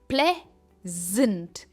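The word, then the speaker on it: pleasant: Next है प्लेजेंट। Play पर इसका स्ट्रेस है।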